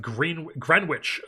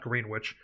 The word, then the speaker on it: Greenwich: 26 years old, out of Greenwich, Connecticut. I believe is how you pronounce that, not Greenwich.